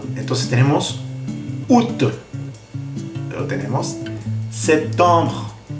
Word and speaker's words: septembre: Luego tenemos septembre. Septembre. Septembre. Y sonido B.